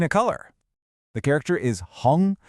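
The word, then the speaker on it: 红: The character is Hung, pronounced hung, which means red.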